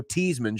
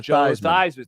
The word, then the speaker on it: Theismann: Well, maybe when he comes here, we'll change his pronunciation, just like when Joe Teasman changed his pronunciation to Theismann.